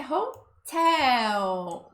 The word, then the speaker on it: hotel: Bom, o próximo é hotel. E eu já vou começar dando um puxãozinho de orelha. Porque a pronúncia aqui é hotel. O tel é que é o mais forte, tá?